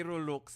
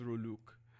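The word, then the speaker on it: rouleaux: All right, so hindi Rolux, Diandra. Okay, thank you so much. All right, so hindi Rolux. Please do not be like your forebearers. Okay, they would often pronounce it as Roluk.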